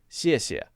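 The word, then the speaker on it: 谢谢: 谢谢, 谢谢, 谢谢, 谢谢. Oh, 谢谢. Okay, now I got it. Right? That's that basic sound.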